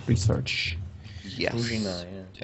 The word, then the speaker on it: Druzhina: and if not, he might use it for Drugina research. Yes. Druzhina, yeah.